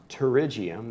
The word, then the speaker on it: pterygium: great name it's pronounced pterygium the P is silent like in pterodactyl okay fact it comes